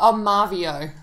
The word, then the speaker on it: Marveo: Well, Marvio. Marvio, yeah.